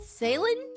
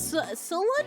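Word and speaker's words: Ceylon: Is it salin pronunation? Oh no, it's it's salon. Salon. Salon. Salon tea. Oh, it's salon. Okay, it's salon.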